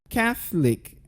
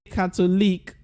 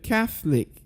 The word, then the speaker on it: Catholic: Now this word is pronounced as Catholic. Can I hear you say that? One more time. Now most people will say Catholic, but that's wrong. So you go Catholic.